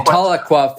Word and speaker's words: Tahlequah: I grew up in Tahlequah, Oklahoma. This is hometown for me. And after graduating from residency, I decided to return here to work and working with the Indian Health Service. And Tahlequah, for our listeners, is it fair to call